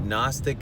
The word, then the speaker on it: Gnostic: But Gnostic is spelled with a G. Gnostic.